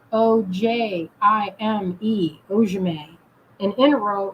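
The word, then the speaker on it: inro: spelled o-j-i-m-e ojume and in a row is just how it sounds i n r o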